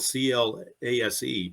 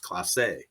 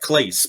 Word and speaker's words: Clase: pronounced or it's spelled c-l-a-s-e but it's pronounced Clase Class A okay it looks like Clays but it's pronounced Clase like a he's French